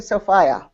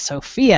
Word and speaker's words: Sophia: All those years of training to Sophia. Wrong. Okay. Right. We have letters written from her family that very clearly say, no, it's Sophia, and it's all spelled out in the pronunciation.